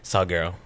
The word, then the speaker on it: Salguero: Salaro. Salggerero.